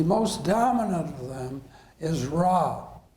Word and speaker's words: Ra: dominant of them is raw sometimes it's said Ray but it's our a is the typical uh pronunciation of the Egyptian sun